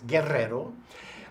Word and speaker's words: Guerrero: All right, well, I'm Guerrero, or if you can roll your R's, Guerrero.